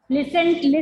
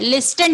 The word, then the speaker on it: listened: लिसेंड They नहीं, heard लिसेंड होता है, लिस्टेंड नहीं है, इसमें ये टी साइलेंट होगा तो इसे लिसेंड बोलेंगे, लिसेंड होता है।